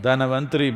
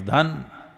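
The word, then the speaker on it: Dhanvantari: North Indian people must connect, don't go on clipping away one syllable and come Dhanavantari becomes Dhan, Trayodashi becomes Tera.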